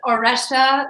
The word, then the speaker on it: Auresia: before i say it it's oresha like erection or russia okay now i'm just